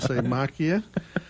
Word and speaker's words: Macchia: Rajan noise and the Crick's masya sounds good to me and that's how he pronounced it all the time macchia and they have a